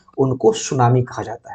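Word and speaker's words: tsunami: सु में टी यहां पर साइलेंट है।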